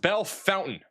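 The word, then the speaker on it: Bellefontaine: Apparently, it is Bellefonte. This is Belle- This is apparently pronounced Bellefonte is what I'm being told. It's right here. That's what I'm being told. It is Belle- Bellefonte in Ohio.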